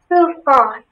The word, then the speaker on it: tufan: Tufan. Maybe some other information? Tufan is the only pronunciation.